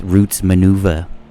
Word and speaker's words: Roots Manuva: Here's another one by the Cinematic Orchestra in collaboration with Roots Manuva. And I'm not saying that funny. That's how it's spelled.